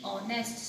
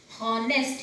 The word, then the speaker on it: honest: H-O-N-E-S-T, honest. Students, I have heard few students reading it honest. Here H sound will not come. H is silent here. You will read it honest.